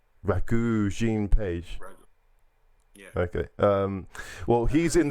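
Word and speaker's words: Regé-Jean Page: I've not seen Bridgerton, but how do you pronounce this actor's name? Rege-Jean Page.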